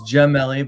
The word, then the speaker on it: Gemelli: It's Gemelli, but I'm used to it. It's been pronounced that way my whole life.